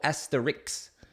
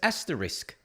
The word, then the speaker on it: asterisk: Because I said yesterday, is it asterisk or asterix? And some people had chimed in and said it's asterisk because asterix is a cartoon character.